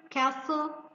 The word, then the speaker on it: castle: Also we have silent T like poachers, poacher, castle, Christmas, fasten, silent H like ghost, honest, our, mechanic, and so on.